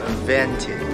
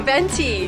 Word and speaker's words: venti: say small so we have tall Grande and vintage there you go venti good all right we got our milk say